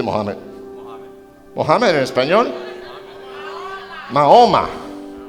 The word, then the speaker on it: Mahoma: Mahoma, Mahoma.